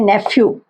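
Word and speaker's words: nephew: नेफ्यू जो है, इसको PH, ये शब्द फ की तरह जो है इसको प्रोनाउंस करते हैं, नेफ्यू, ठीक है।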